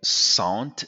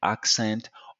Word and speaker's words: accent: So every time you hear sant, just think of scent because the en combination in French is en. So every time a French speaker will attempt to pronounce the ent, just like in accent or continent, they will say continent or accent. Okay, so sant is actually scent.